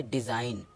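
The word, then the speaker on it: design: हमेशा साइलेंट होता है जैसे डी ई एस आई जी ई जी एन तो इसको पढ़ेंगे डिजाइन इधर हमारा जी साइलेंट हो चुका है इसी तरह इसको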